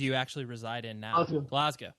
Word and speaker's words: Glasgow: actually reside in now glasow and you have to say it like that glasow glas sorry glas I'm just kidding yeah you could say it like us Americans do Glasgow GL right now yeah